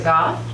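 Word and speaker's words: Gough: Goff. Last name is spelled G-O-U-G-H.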